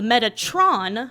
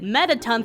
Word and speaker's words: Metatron: was actually another so the game's full title is El Shai Ascension of the Metatron but I pronounced it metaton throughout the entire video and then end